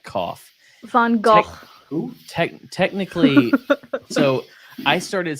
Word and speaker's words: Van Gogh: I say it like Rango. I just say it's Vango. It's Vango. Like Rango.